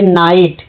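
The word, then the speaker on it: night: यहां पे नाइट। जी एच क्या है? साइलेंट है।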